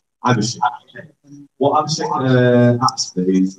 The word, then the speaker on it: Abhishek: Do you pronounce it right? Abhishek.